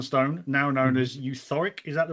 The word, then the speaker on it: Euthoric: as Euthoric. Is that the right pronunciation?